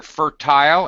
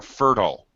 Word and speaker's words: fertile: By the way, you will hear fertile as Sam pronounces it. You may hear fertile. Fertile, okay. I've heard both. I think both are acceptable.